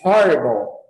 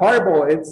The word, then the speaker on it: horrible: Horrible. Horrible, né? Horrible. Esse aqui também, esse H não é mudo, tá?